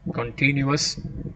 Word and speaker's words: continuous: Continuous, where do you put the stress? How many syllables? Continuous, three syllables. you put an accent on the second syllable, continuous.